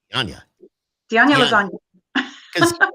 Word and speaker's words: Dianña: Well, Now, Skip couldn't pronounce it, and I told him it's like lasagna. Yeah, so it's Dianña.